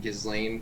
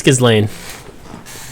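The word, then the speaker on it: Ghislaine: and i was like oh that's how you say it gizlane because gazelle is late i think it's kislane no dude that's not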